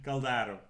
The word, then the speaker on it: Caldaro: Caldaro. We always have discussion how you pronounce Italian names, and unfortunately I was wrong this time.